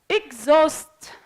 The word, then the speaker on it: exhaust: Exhaust or exhausted, we don't pronounce H.